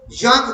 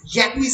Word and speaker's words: Jacques: For example, জাঁক দেরিদা, JACQUES, জ্যাকুইস বলি না তো, জাঁক বলি, জাঁক রুশো।